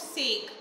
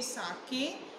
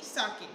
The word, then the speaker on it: sake: It is not sake. Spelling sake की भी यही होती है, ऐसे की ही, पर यहाँ पे आप इसको pronounce करोगे sake. एक जैपनीज ड्रिंक होता है और इसकी प्रोनंशिएशन होगी साके, ठीक है?